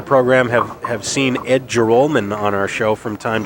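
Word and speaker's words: Joralmon: r a l m o n that we pronounce it jolman instead of Jalan which is how it appears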